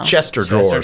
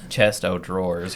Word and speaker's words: chest of drawers: Chester drawers.